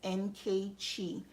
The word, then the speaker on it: Nkechi: Again, how to say my name correctly, just in case, is Nkechi. It's Nigerian.